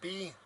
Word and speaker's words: Bodhi: Nobody can spell it. It's B-O-D-H-I.